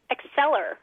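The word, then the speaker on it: Acclir: Acceler like acceleration.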